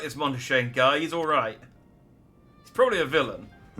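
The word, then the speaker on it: Montichaigne: Skolok Monteshane. He's the head of the studium and an old friend of my grandfather's. And I say I appreciate you telling me how that man's name is pronounced. Monteshane.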